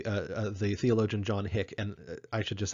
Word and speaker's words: Hick: the biggest mistakes is people will tend to call him Hicks, right? Hicks, right? Put an S on the end there. That's not actually the way his name is spelled. His name is John Hick, right? And so you might talk about Hick's Theodicy, right, with an apostrophe S, but the name is John Hick. Just No S in there.